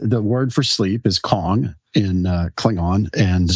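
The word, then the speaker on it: qong: Uh, I can't say spell it. Q o n gong. It would be Kong.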